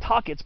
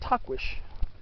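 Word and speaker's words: Tahquitz: mountain and of course talk wish peak and san jacinto mountain mass and uh yeah the people mostly call it tockets but it's supposed to be pronounced tuckwish t-a-h-q-u-i-t-z and of course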